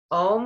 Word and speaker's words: Om: Om, we're gonna pronounce A-U-M, om.